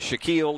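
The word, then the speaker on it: Shackeel: Now, that's not spelled like Shaquille O'Neal. It is spelled S-H-A-C-K-E-E-L. But no matter how you spell it, Shaquille is Shaquille.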